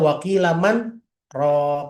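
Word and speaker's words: وَقِيلَ مَنْ ۜ رَاقٍ: Ya, ini bacanya waqilaman ro ya. Ada ada nun ketemu ro tapi ini harus berhenti ya Bu. Namanya saktah. Saktah berhenti sejenak tapi enggak boleh ngambil napas.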